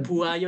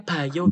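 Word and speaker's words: 봐요: Iku sapa sing ngajarin bu ayo iki? Bacanya bayo gitu aja Mas. Molpa kayak gitu. Orang Korea bacanya ba gitu. Bayo gitu.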